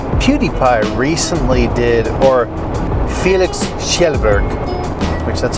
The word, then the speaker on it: Kjellberg: a pilot so PewDiePie recently did or Felix Kjellberg which that's how you say it name Shepard